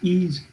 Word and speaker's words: Ys: stream on my ease it'll be a capital y lowercase s let's pronounce ease e-a-s-e uh the collection i